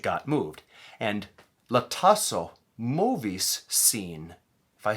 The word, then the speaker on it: movi: And a way to remember that is movi rhymes with shovi. Shovi means to shove.